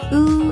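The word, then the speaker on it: ㅜ: and the next one is pronounced ooh as in and this one you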